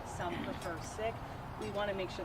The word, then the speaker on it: Sikh: the most respectful way what is the pronunciation that you and the community prefer imagine if you ask everyone you might get different answers I say sick I think most everyone